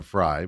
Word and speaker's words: Frey: I I jokingly say it Frey because it's it's spelled that way and she gets so mad at me when I do that.